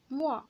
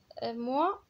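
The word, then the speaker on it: mois: موا ما كيتكتبش ام او اي بوحدها ديال شهر، حيت ام او اي بوحدها كتعني موا اللي هي انا، ولكن هذه عندنا موا بالاس والاس موي ما كتنطقش، يعني الفرق ما بين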